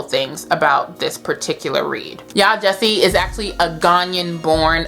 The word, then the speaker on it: Yaa Gyasi: strike one and then I said by yasi which was stke too so yah Jesse homegoing this is going